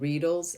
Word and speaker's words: Reedle: these spicule needles called Reedles. And basically what they do is they create microchannels into your skin for better absorption. So they call it Reedle. I think it's supposed to rhyme with needle because it's not really